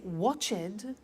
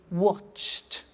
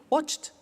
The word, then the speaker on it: watched: ed wash it but if we eliminate the e and we add T okay watched danced good the next